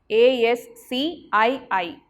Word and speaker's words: ASCII: ASCII. American Standard Code for Information Interchange. How to pronounce this ASCII?